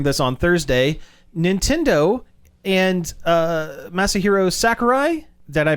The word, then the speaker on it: Masahiro Sakurai: Nintendo and Masahiro Sakurai. Did I pronounce that correctly?